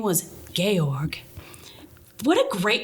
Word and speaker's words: Georg: No, it's Georg. Georg. It's like George without the E at the end.